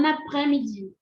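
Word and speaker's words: bon après-midi: essa ah lizon né Essa lizon aqui ela tem um sonzinho de na porque a gente faz de novo aquela junção terminou em consoante começou com vogal fechou né B b aprés-midi b aprés-midi e aqui o sonzinho do r b aprés-midi então tem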